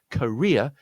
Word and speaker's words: career: Again, it's a 3-syllable word, but in this case, the stress point is on the second, is on the last, the middle syllable. Let's say career, my career. The first syllable is, rather than the ko sound of courier, is the sound of a schwa. Career.